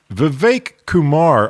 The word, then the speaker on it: Vivek Kumar: tell us all right everybody says this wrong I'm going to try to say it right here comes V Kumar of click it did I get it right that it's exactly right see you got to